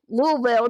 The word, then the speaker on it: Louisville: But my favorite moment of you being on this show was actually just last year in Louisville. Louisville Louisville, Kentucky. How you say it like that?